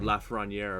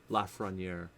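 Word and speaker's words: Lafrenière: at the frontier but or lafraniere apparently is how they say it la frontiere and i've been saying it wrong this whole time and i feel stupid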